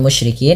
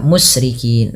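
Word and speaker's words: الْمُشْرِكِين: Nah, pada lafal musyrikin hati-hati dalam melafalkan huruf shin, jangan dibaca musrikin, nanti maknanya berbeda.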